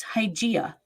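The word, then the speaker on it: Hygieia: going to hear why it's hygiena you know as in hygiene the greek goddess idea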